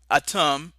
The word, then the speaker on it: Atum: of whom was named Atum, a name virtually identical in pronunciation to the Semitic word Adam, which was used to describe the human male.